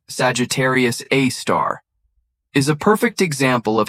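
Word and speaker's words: Sagittarius A*: Our galaxy's central black hole, Sagittarius A, pronounced Sagittarius A star, is a perfect example of how scientific understanding evolves through careful observation and technological advancement.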